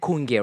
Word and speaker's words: Kunge: Did I pronounce that correctly? Kunge. Kunge. Yes. Kunge, rather.